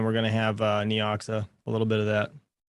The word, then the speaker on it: Neoxa: going to have uh neoxa a little bit of that i see i knew i was saying it wrong you know how many people call me out for saying neoxia it's like leoxa what's